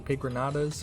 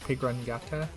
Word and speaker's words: Pigronata: can get bacon from Pigranatas for the exquisitely stuffed buff, I get to work on the Elevator. And yes, it's pronounced Pigranata, not Pigrangata, because the N doesn't have the tilde above it.